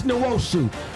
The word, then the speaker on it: Nwosu: Uchenna Nwosu, and announcers, can you get my guy's name right? Did you hear what he was saying? No. He was not pronouncing it correctly. It's Nwosu.